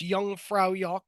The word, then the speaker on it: Jungfraujoch: mountains, like up Mount Pilatus, with a famous Jungfraujoch. Yes, that's how you pronounce that.